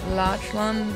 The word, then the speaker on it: Lachlan: It's Lachlan, but Lach is pronounced like Lock.